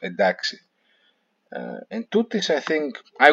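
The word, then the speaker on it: εντάξει: It's also interesting to note that "entaxi" now is pronounced as "d." It's not pronounced "entaxi." It's pronounced "edaxi."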